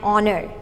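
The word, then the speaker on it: honour: you would use an because h is silent so the sound that the word has picked up is a vowel sound that's awe next before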